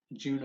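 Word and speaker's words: Djuna: Well, if you do, then allow me to present you with Nightwood by Juna Barnes. The D is silent.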